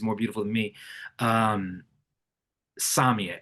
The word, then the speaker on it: Samia: I'm saying Samia because I'm Latino, but I think she pronounces it Samia. S A M I A.